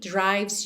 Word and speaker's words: drives: Like a heartbeat drives you mad. Drives you, atenção que o E de drives também não é pronunciado, você vai do V direto pro S.